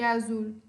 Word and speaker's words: azul: Qual é a sílaba tônica de azul? Zul, certo? Separa a sílaba.